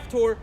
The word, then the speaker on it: Caphtor: Egypt, and the Philistines from, how do you pronounce that? That's Caphtor? Yeah. Caphtor, and the Syrians from Syrians from Kir.